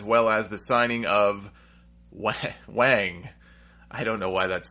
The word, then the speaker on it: Wang: It's pronounced Wang.